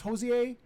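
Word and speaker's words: Hozier: But then I was watching a is it pronounced Hosier? He did take me to Yeah, church. H-O-Z. Yeah, E. IER. Yeah. Hosier, we'll say. Hosier.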